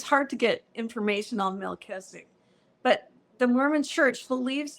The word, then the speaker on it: Melchizedek: So I did grow up hearing Melchizedek, and it's a little different how they say it in the Mormon Church, Melchizedek. And I think how you really say it is Melchizedek.